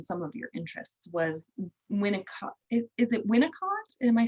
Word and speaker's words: Winnicott: And so what we were going to talk about today, based on some of your interests, was Winnicott. Is it Winnicott? Am I saying it right? yeah. Winnicott.